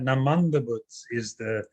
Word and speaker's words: Namanda Butsu: So it's that Namanda Butsu is how it's said in Japan.